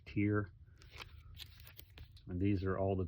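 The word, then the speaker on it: Tyr: Some people call it tire, but I think it's pronounced tier.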